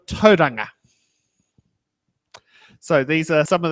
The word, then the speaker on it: Tauranga: place names such as saying T wronger instead of toang so these are some